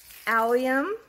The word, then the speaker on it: allium: have another one it's called the true blue allium look I pronounced it right and these these are a